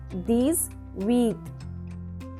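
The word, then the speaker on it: dix-huit: D-I-X-H-U-I-T, 10 plus 8. 10 plus 8, these wheat.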